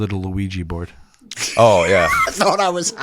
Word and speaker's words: Luigi: My dad's name is Ouija? Luigi.